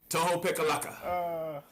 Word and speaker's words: Tohopekaliga: defensive yeah that's it how you say it toho pikalaka what a come on everybody call us toho man but uh yeah i've been over there